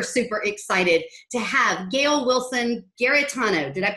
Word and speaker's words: Wilson-Giarratano: And today I am super, super excited to have Gail Wilson-Giarratano, did I pronounce that correctly?